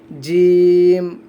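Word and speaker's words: ج: আচ্ছা, এটা দেখেন জিম, জিম, জিম। অনেকে কিন্তু জিম বলি, জিম, জিম হবে না, বর্গীয় যদি উচ্চারণ হবে জিম, জিম, শক্ত করে উচ্চারণ হবে জিম।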